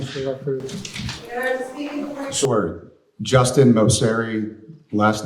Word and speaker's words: Moceri: Justin Moseri, last name is spelled Moceri.